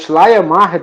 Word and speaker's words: Schleiermacher: Geralmente essas palavras alemãs são compósitas, né? São compostas. Então a gente tem que partir elas para poder pronunciar. Então, Schleier, né, o primeiro, e depois Macher.